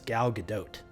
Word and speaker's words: Gal Gadot: But apparently she's Israeli, so you do pronounce a T. So it's Gal Gadot, is my understanding.